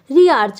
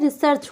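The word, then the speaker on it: research: क्या लिखा है ये रि आर्च रि आर्च नहीं होता है रिसर्च होता है ठीक है तो रिसर्च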